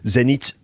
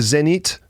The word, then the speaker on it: Zenith: That's how I pronounce it in English. Zenith.